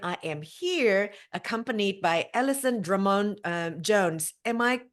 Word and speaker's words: Alison Drummond Jones: I am the relationship coach and chief relaxation officer of Kayangan, and I am here accompanied by Alison Drummond Jones. Am I pronouncing your name Yes, that's correctly?